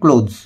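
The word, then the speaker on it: clothes: C makes, সে তৈরি করে অল মাই ক্লোথস, দেখো উচ্চারণটা হবে ক্লোথস, সে তৈরি করে আমার সব জামা কাপড়।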